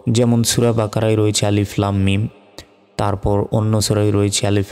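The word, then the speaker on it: الم: কিভাবে উচ্চারণ করবো দেখুন আলিফের উপর জবর জের বেশ কিছু নাই কিন্তু এটাকে আমরা আলিফ এভাবেই বলবো তারপর লাম অক্ষরের উপর মোটা চিহ্ন এখানে চার সেকেন্ড টান হবে তারপর মিম অক্ষরের উপর তাজদিদ থাকলে ওয়াজিব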